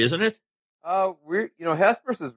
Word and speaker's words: Hesperus: you started one you're from drangle area it's Hesperus is that how you say it yeah you